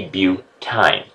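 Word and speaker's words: butyne: YNE is pronounced ine. So if I was C4H6, then I would be butine.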